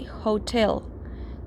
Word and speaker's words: hotel: say Hotel we say Hotel therefore it's not an Hotel it's a hotel okay it's a pronounced H like this one hotel so a hotel and